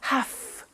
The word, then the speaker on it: have to: pronunciation I have to notice I don't say V I say F have half it becomes have to